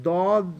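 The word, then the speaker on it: ضاد: they practice this the dog the way you pronounce it is that back over your tongue should touch the back molar okay and you can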